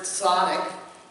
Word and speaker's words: tzaddik: As we get started, the word up there that you're wondering, it's pronounced tzaddik, and it means righteous person.